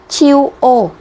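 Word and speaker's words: 中央: Trung ương Ok thì nó sẽ đọc là chiu ô nhá chiu Ô Trung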